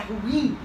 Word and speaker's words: ruim: é deu ruim que a pronúncia correta é ruim a palavra é oxítona tá Então meus amores